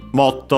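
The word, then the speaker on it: もっと: Motto on its own would be more, simply, even more. Should be accent, and yes, it's accented on the first syllable.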